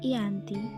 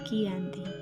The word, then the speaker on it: Giyanti: sering disebut dengan VOC dalam pelafalan Belanda ia tersebut sebagai anti dan secara tertulis ia terbaca sebagai Giyanti perjanjian Giyanti dibuat untuk